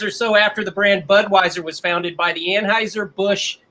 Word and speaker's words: Budweis: The German pronunciation of the town is Budweis.